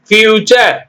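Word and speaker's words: future: இ டி ஆர் E creature ஓகேங்களா creature அடுத்து பியூச்சர் பியூச்சர்னா என்னங்க எதிர்காலம் fu்டு ஆர் இ பியூச்சர் கல்ச்சர்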